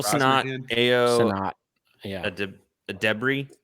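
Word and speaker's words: Edebiri: Adebri. That's how you pronounce it.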